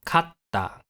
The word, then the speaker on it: かった: small T is used to lengthen the following consonant the consonant is held for some extra time before being released into the following vowel for example Kata means shoulder while Kata Can mean one as